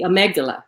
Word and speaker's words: amygdala: it wrong, I know I am, but the amygdala, which I said it right.